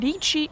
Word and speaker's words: Dietschy: Sarah Dietschy rhymes with Peachy.